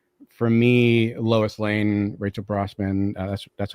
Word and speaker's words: Brosnahan: For me, Lois Lane, Rachel Brosnahan. That's how you pronounce her name, right? Rachel. Yeah, Brosnahan.